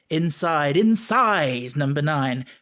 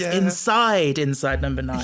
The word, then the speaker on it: Inside No. 9: or delivers the title, he goes, inside number 9, really annoys me, because you should put the emphasis on the first one, because it's inside number 9.